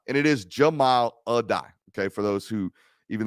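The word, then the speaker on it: Jahmile Addae: Jamal Adai, and it is Jamal Adai.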